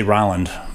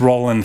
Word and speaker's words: Roland: thank you Rolland Roland Roland Roland some guys say Rolland you're Roland cuz it fits Roland no actually my name was always Roland it was never pronounced Roland okay but but the